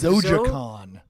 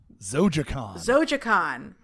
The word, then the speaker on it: Zojaqan: Actually, how do you pronounce your fantasy comic? Zojaqan. Zojaqan.